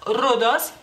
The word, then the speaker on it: rudos: En lituano tenemos esa misma palabra, nomás que la pronunciamos, o sea, la U es más corta, rudos.